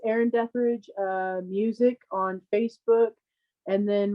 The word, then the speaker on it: Detherage: So it's Erin Deathridge Music on Facebook.